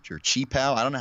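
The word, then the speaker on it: qipao: The dress was like it's called a kiapo or chipao. I don't know how you're supposed to pronounce it. I think it's called a kipao. Kipao.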